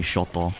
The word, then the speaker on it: Shoto: good if she asks people to call me shoto first but i think people want to be lazy and just say like one syllable so they just go for show uh i already got